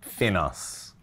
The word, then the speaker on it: FINOS: I, with my outrageous Italian accent, pronounce it FINOS. Maybe an American native will probably pronounce it FINOS, but that's it. It's not FINOS, it's not FINOS.